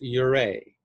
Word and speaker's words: Ouray: the town's name is spelled o-u-r-a-y but it's pronounced your a i can't help but just elena hearst would